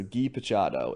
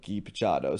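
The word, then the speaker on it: Guy Picciotto: So Guy Pachado is the pronunciation that I saw. Spelled Guy, like the French way, or I went to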